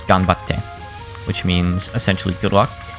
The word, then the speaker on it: ganbatte: The tsu was a small tsu, meaning it just doubles the next syllable, by the way. So rather than ganbatsute, it's ganbatte. Maybe that's what someone meant